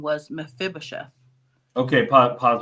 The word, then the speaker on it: Mephibosheth: Okay, our pronunciation is being corrected. Mephibosheth.